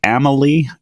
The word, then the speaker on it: Amalie: at is it the Amalie arena is that what it's called yep pronounced Emily Emily yeah the Amalie arena